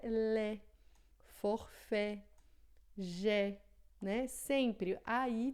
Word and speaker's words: lait: Então, todas as vezes que você vê as letras A e I juntinhas assim, vai ter som de E. Né? Então, leite, por exemplo, em francês é lait, forfait, jet, né?